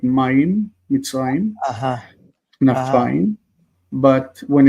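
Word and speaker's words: מצרים: Like how do you say the word Amitzrim. Mitzrayim? Yeah, right. Mitzrayim. Yeah, I mean Mitzrim. Mitzrayim, you're right.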